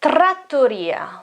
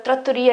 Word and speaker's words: trattoria: strong in italian and we have a double t here so the the consonant is longer so they are uh